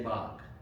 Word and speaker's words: Bog: Thomas Bog slaves because down in Georgia and Florida, they say Bach. Uh, and maybe that was from the pressure of everyone saying it that way because they thought that's what it looks like, right? The hill. So, I don't know. Both are correct apparently depending on where you are.